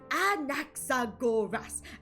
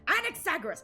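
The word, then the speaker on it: Anaxagoras: I I read this fanfiction where where I think it was like an accident was like, "It's anoras. Anexagoras. It's five syllables.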